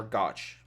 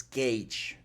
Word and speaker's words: gauge: that a proper gauge it's gage or gotch how is it pronounced let's learn some english real quick it's gage gage i always say dodge